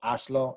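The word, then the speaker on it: hazlo: If we have a stress syllable that's the second to last syllable, we don't need an accent mark because that's where you're supposed to stress that. So aslo, no accent mark needed.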